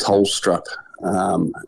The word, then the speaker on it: Tolstrup: So, we're excited by both the selections of Caleb and Colton, which is pronounced Tolstrup as a Danish background, Good to know.